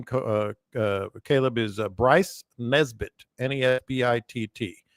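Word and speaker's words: Nesbitt: final winner his name Co Caleb is Bryce Nesbit nbit TT how much money does he have uh is's a question what how how do you say his name Bryce Nesbit n n is and Nancy e SB TT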